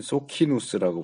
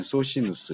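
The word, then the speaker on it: Socinus: 관한 다양한 이론들 해서 여긴 소키누스라고 번역했는데 내가 배울 땐 소시누스, 이 라틴어 C가 뭐 키로도 발음하고 C로도 발음하고 그래서 근데 나는 소시누스가 더 익숙하긴 한데 소키누스 해도 틀리진 않아요.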